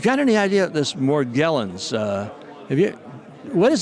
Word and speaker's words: Morgellons: let's pronounce this incorrectly morgellos morgellons morgellons you know that's that's true